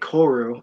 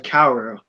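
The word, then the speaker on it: 薫: Oh my god, they're pronouncing it Koru instead of Kaoru.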